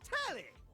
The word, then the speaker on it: Telly: Before we get to what's on my screen, the name's Telly rhymes with Nelly.